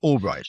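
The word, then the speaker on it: Ulbricht: Is that how you pronounce it? Albright. Ross Albbright.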